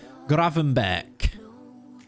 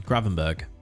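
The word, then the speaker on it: Gravenberch: your saves custard creams graven beck it's a dutch g at the end though um yeah graven not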